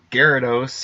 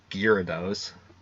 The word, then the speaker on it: Gyarados: rolls out easier uh Gyarados I think I used to call gear those I used to mispronounce the whole and then I ran